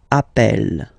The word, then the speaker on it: appelle: You tend to pronounce it like really open. That's the reason why you pronounce it appel, okay?